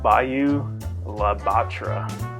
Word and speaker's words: Bayou La Batre: Bubba is from and I'm gonna pronounce it without the Cajun accent called Bayou La Batre it's known as the